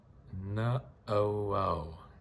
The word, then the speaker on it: Naʻauao: I was asked, and or how do you pronounce it properly? Naʻauao or Naʻauao, but Naʻauao.